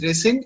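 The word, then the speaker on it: rescind: yes sir it's called resend okay okay it's pronounced as resend and it means cancel or reject the same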